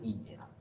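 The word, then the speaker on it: ingenuous: রয়েছে, সেইটার জন্য হচ্ছে তার সেই বানানটা হবে আই এন জি এন ইউ ও ইউএস, ইনজেনিয়াস, এটা হবে ইনজেনাস।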